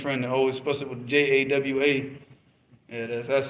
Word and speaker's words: Jawa: people the students of knowledge now they're in Jawa what they call Java but if you notice our Indonesian friend always SP it with J AWA yeah that's how it's pronounced what's that that's